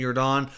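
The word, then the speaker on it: Jordán: you're Don I don't spelled like Michael Jordan but I believe he pronounced the last name you were Don anyways he's had his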